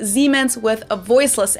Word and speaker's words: Siemens: Germans pronounce it with a voiced S, which would be a Z in English, Siemens, while English speakers pronounce it with a voiceless S. Siemens.